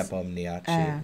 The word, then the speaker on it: Nepomniachtchi: Nepomniachtchi. Yeah, he's telling us how to pronounce every everything phonetically.